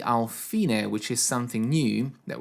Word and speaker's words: fine: until you get to the fine sign, or fine, but it's pronounced fine.